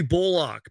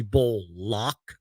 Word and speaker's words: Bullock: was like, I guess Reggie said that he wants his name pronounced Reggie Bullock, like Bullock, not Bullock, Bullock.